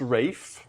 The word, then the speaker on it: Ralph: So it's pronounced Rafe not Ralph as we spoke about earlier.